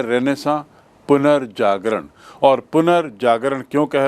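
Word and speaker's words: Renaissance: इसको अंग्रेजी में रेनेसा भी कहते हैं। रेनेसा आर ई एन ए I double S ए एन सी ई उच्चारण देखिए रेनेसा रेनेसा मतलब पुनर्जागरण जैसा हिंदी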